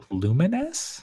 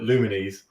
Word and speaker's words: Lumines: I told how are you supposed to actually pronounce it luminous luminous okay play okay so when I was